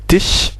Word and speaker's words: Tisch: Et das Automobil, das Kind, voilà, der Tisch, donc ici c'est Tisch, S-C-H se prononce ch, normal.